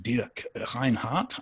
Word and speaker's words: Dirk Reinhardt: And the book is written by Dirk Reinhardt, as we'd say in English, Dirk Reinhardt, I think, as we would say in German.